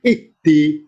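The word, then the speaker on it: اهدِ: Nah, dalam kaidah bahasa di Al-Quran, ketika membaca alif di awal kata, tergantung huruf ketiga bunyi apa. Alif, ha, sama dal. Kalau ketiga kasroh, alifnya ikutan kasroh. Ihdi. Nah, itu bacanya.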